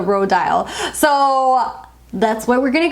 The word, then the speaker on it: Rodial: I went to their Instagram and looked at their stories to see how they pronounced it, and that's the way that they were saying it was the Rodial.